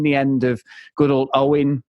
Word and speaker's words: Eoghan: We have seen the end of good old Owen, Eoghan, as he's pronounced. Eog. As it's spelled.